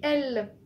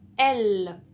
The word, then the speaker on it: elle: Oui, elle, le mot outil elle. Et ben en fait, si E, L, E, deux L, donc c'est une lettre double qui est deux fois, E, L, se prononce L, comme le mot belle.